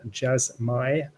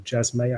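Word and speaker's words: Jasmy: So we've got Akash, we've got Lifinity, and Jasmai, or Jasmay, I think it's pronounced.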